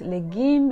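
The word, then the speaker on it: legim: cabbage spinach and watercress it's pronounced legume in haitian creole i'm going to teach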